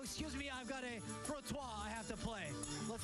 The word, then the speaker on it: frottoir: Now, you were telling me the pronunciation of this washboard I have, the frottoir. Frottoir. Frottoir.